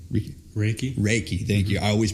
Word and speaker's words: Reiki: ask you about with I don't want to mispronounce it Ricky Ricky Ricky Reiki thank you I always mispronounce it you know